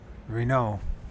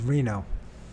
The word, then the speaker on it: Renaud: How to say Renaud? Okay. Reno. I was saying it right. Reno. It's Reno. Get rid of those.